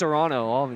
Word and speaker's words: Toronto: You know, we don't even pronounce the T. Yeah. It's Toronto, honestly, to be honest.